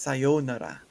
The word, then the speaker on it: sayonara: The way Americans will say sayonara, right? That's not how it's said in Japanese. It's sayonara.